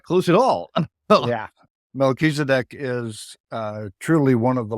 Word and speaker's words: Melchizedek: It's Melchizedek. Oh, I was not close at all. Oh, Yeah. Melchizedek is truly one of the lords of light in this universe.